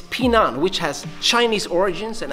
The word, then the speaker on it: Pinan: By the way, in more modern Japanese styles, these kata are known as Heian, but the original pronunciation is Pinan, which has Chinese origins and actually means to stay safe.